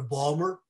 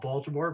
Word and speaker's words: Baltimore: suppose you go to balmer some people call it baltimore but my college roommate from salisbury maryland said it's actually properly pronounced balmer or maybe annapolis go